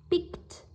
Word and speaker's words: picked: Tiếp tục, pick, picked, picked, âm K. Vậy trước âm K các bạn sẽ phát âm là âm T, picked, picked.